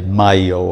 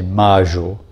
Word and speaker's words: mayo: In Argentina, we pronounce them je. So I say yo soy. And I don't say mayo, I say mayo.